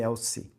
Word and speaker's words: Elci: Elci ou Elzi que pronuncia? Eu falei Elci.